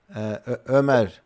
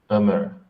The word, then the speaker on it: Ömer: By their names, I guess Robert is Romanian, and Omer, it's pronounced the Turkish player name. Ömer. Ömer.